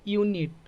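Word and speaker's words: unit: वो मत देखिए वो भूल जाइए समझ गए यूनिट देखिए यू तो क्या हो जाएगा यह ए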